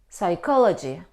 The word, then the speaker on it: psychology: chemistry Saito stomach no though we see the combination C and H we don't pronounce here in these words we pronounce them psycho psychologist psychology stomach chemistry we don't pronounce we pronounce k psycho is a person